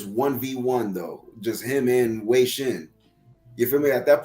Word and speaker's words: Wei Shen: I brought up the fish thing too, but like Wei Shen or whatever. I'm sorry, I don't know how to say this guy's name. No, you got it. Wei Shen.